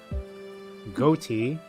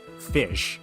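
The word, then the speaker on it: ghoti: Goatee, or it's actually pronounced, but the actual pronunciation's fish, which is really interesting because that's the English language. Where the GH is the same pronunciation as it is in tough, which makes an F sound, and then O in women, so wit is so eh. Then TI like in nation, so she, like sh.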